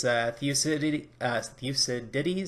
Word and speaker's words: Thucydides: When it comes to about 1,000 years, there's Thucydides, I believe is how it's said.